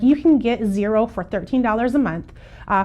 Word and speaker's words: Xero: want to talk about is zero and zero is spelled x-e-r-o we do use zero